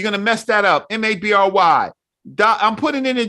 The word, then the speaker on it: Mabry: correct g-i-n-a-l-d-m-a-b-r-y right right my name is mabry we don't call ourselves marbury realizing i'm crazy as